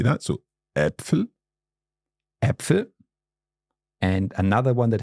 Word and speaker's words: Äpfel: So to give you an example, it would be, for example, in the word Äpfel.